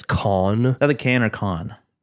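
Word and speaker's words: Cannes: tend to be um there that's how it's pronounced I thought it was can's nope it's people used to call it the can's film festival or the can film festival then it's con that the can or con it changes anytime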